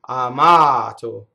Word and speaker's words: amato: Here's a stress with here's a word with the most common stress in Italian. It's on the second to last syllable. So the stress is in the middle of the word. Amato.